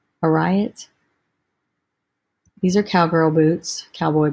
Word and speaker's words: Ariat: Riot. I think maybe the A is silent. A-R-I-A-T. A riot.